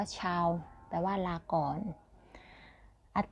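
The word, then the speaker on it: tchau: ก่อน ชาว นะ คะ T C H A U ชาว อ่าน ว่า ชาว แปล ว่า ลา ก่อน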